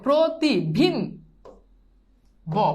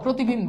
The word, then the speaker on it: প্রতিবিম্ব: কি হবে ওকার হবে তাহলে কি হবে প্রো প্রতি দেখো প্রতি দেখো প্রতিভিম ব প্রতিবিম্ব বুঝছো এটা কিভাবে হইছে বুঝছো মানে জাস্ট ওই যে ওকারের যে খেলা এটাই তোমাকে এখানে মনে রাখতে হবে প্রতি এই যে কার আছে এই কার থাকার কারণে প্রথম বর্ণের সাথে ওকার যুক্ত হইছে উচ্ছ্বাস উজ্জ্বল এগুলো পারবা